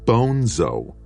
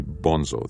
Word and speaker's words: Bonzo: not Bonzo piss head Bonzo the name's Spanish Bono Madrid a seor gr Fedor you must be bonso then Ender asked pronouncing the name correctly no just a brilliant